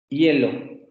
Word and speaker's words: hielo: es duda y efectivamente el h es mudo pero esto nos daría la sensación de que esta palabra se pronuncia así hielo con una y pero si ustedes que